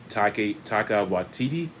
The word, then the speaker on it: Taika Waititi: I cannot pronounce his name, so please forgive me if I butcher, but Taika Waititi, I believe is how it's pronounced.